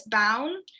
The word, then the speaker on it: Bown: My last name is Bown, so I have to say it's Brown without the R.